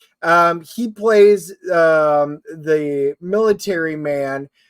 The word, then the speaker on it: Ejiofor: And I can never pronounce his name. It's Chiwetel Oh right. Ejiofor.